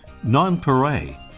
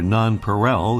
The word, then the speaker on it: nonpareil: France gave the bird another name by which it's often called nonpareil, or nonpareil in the English pronunciation, meaning unrivaled, as a way to characterize its incredible coloration.